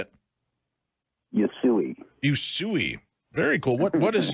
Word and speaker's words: Usui: John is also a Raiki master and an instruction of is this Usai Raiki, Reverend Poke? Is that how you say it? Yui. Usui.